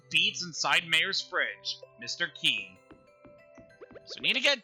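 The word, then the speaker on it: Qi: And yes, his name is Key. I know it has a Q in it, but that's how the name is pronounced.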